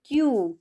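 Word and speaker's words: queue: words आपल्याला दिसत आहेत then क्यू क्यू यू ई यू ई क्यू क्यू म्हणजेच एक एका रांगेत उभी राहणेस त्याला क्यू हाच प्रोनाउंसिएशन आहे एका रांगेत हे सगळे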